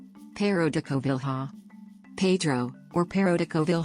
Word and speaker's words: Pêro da Covilhã: pero de Koval ha Pedro or pero de Koval ha or Portuguese pronunciation circa 1400 60 after 1526 sometimes written